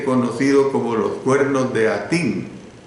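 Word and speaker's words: Hattin: como los Cuernos de Atín. La palabra Atín se escribe con H y doble T, los Cuernos de Atín, que era un lugar llano donde podía reunirse una multitud.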